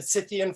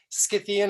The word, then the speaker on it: Scythian: who have corrected me i've said cythian for a long time scythian apparently is what the way academics like to pronounce it in this part of the world scythians are a good